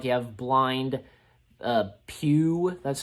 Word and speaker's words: Pew: He's pretty funny in this, and some of the other characters, like you have Blind Pew, that's how you say it, played by John Laurie, I think, yeah.